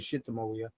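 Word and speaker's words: Sitamoia: No, Little Darling's a B-side, as is Shitamawia, however you want to pronounce it, although he says Shitamawia.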